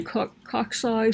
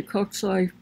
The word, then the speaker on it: cocci: So spherical, some say cocci, some people could say cocci. There's a bunch of ways of pronouncing it.